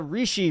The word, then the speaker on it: Rishi: Did you like when they're written out it looks like rushy to me even though they always pronounce them rishi in the freaking audios best side.